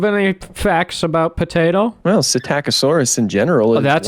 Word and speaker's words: Psittacosaurus: Well, Psittacosaurus in general.